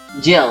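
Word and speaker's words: Gil: By the way, G means Jill, not gold. I've been calling the currency here gold this entire time. I'm so fucking stupid. Jill, like Jill Valentine, but spelled with a G.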